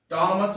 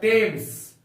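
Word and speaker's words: Thames: हम लोग इसको बोलेंगे थॉमस थॉमस थॉमस का उच्चारण यहां पर थॉमस होता है जैसे हम लोग ने सुना है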